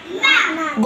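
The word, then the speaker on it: غافلون: এরপরে জামরে গ ফি ফি লু লু না গাফিলুনা গাফিলুনা এবার পুরাটা একসাথে বলবো আবাউহুম আবাউহুম ফাহুম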